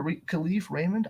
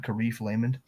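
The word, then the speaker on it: Kalif Raymond: question Broncos Legend K khif Raymond I almost said it wrong I said karif laymond if he stayed with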